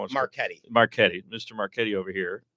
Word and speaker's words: Marchetti: Marchetti.